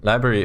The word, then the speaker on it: LBRY: do random stuff um what's library library is spelled lbry and it's a decentralized